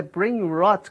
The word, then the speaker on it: brain rot: É possível ter uma sensação desse brain rot, até corrigindo a pronúncia que eu falei, o hot, dá a impressão de ser quente, né? Mas é brain rot, como você bem colocou aqui.